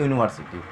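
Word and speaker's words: university: जैसे मान लीजिए कि यूनिवर्सिटी, तो यूनिवर्सिटी में यू जो होता है वॉवेल लेटर है, बट इसका प्रोनाउंसिएशन हम जब करते हैं हिंदी में तो यू, यू, तो यानी य से आ रहा है, तो यह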